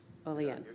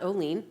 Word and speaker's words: Olean: I say it right Olean Olean not Olene like I thought earlier today Olean Community has benefited